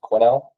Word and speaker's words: Quinnell: My name is Scott Quinnell, pronounced Quinnell. Um even though there's a weird S in the middle.